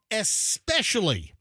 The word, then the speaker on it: especially: yes the word is especially what who who says it differently than that okay so people say especially they add an X all the time beef dude how do